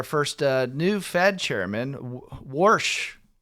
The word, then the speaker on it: Warsh: And so we had our we also had our first uh new Fed chairman Worsh. Is that is that how you say it in Pittsburgh? Worsh. Worsh.